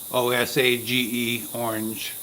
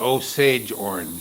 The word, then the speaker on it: Osage orange: went and googled it and i typed in pronounce o-s-a-g-e orange google referred me to three different videos and all three of the videos pronounced it osage orange so apparently it's osage orange okay so that's